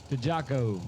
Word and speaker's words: DeJaco: Okay, how did you pronounce James's last name? DeJaco.